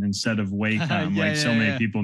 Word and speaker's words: Wacom: Here's another quick, and again, these are just concept sketches done on my Wacom real quick.